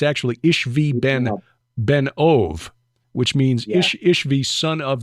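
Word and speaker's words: Ishbi-benob: by one of them whose name is Ish ishbi benab is how it looks but it's actually ishvi Ben ove which means ishvi son of the medium um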